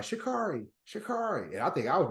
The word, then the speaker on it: Sha'Carri: Then this last time they was like, Sha'Carri. And I think I was messing up her name too. And she said, Sha'Carri. She corrected him. No, my name's Sha'Carri.